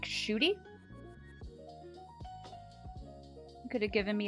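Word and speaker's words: Ncuti: Pronounce his name like Shooty.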